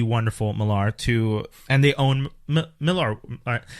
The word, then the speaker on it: Millar: I feel weird pronouncing it this way, but I'm told his name is Millar and it's Millar World. But I feel like Miller World is so much easier on the tongue.